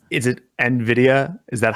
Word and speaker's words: Nvidia: just by the way learned that I've been mispronouncing hey hul what's the big company that's giving earnings after the close today Nvidia he said it right Matt you say it